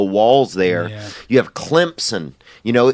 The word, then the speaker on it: Clemson: You have Clemson. You know, they pronounce it with a P in it, but it doesn't even have a P in it.